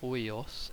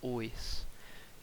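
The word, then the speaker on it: οἷος: Gal Gadot mispronounced hoios as ois, and ois is actually a word, and it means a sheep.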